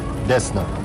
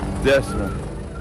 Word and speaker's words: Desna: How do we pronounce it? Desna. Desna.